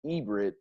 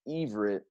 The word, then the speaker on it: Ivrit: in the first instance called themselves Ibrit, pronounced Ivrit, as it is also pronounced in the ancient and modern Hebrew tongue, a name that today's world Jews or Hebrews call themselves.